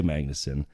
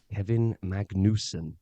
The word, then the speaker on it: Magnussen: And then we learned he didn't actually say Magnussen. He didn't say Sainz. What did he say, Rob? He had great pronunciation of, we've been saying it wrong all these years. It's actually Carlos Sainz and Kevin Magnussen.